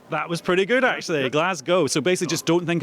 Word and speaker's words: Glasgow: i have to say this is my hometown it's pronounced glasgow i'm sorry i know it's uh it's an american thing we're trying to get it right uh it's just a havoc because i think we've heard it both ways go on give